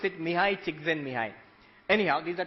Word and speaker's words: Csikszentmihalyi: You pronounce it Mihai Csikszentmihalyi.